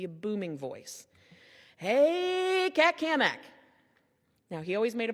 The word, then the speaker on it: Cammack: Hey, Cat Kamak. Now, he always made a point to say my name right. and he put an emphasis on the Mac because he was always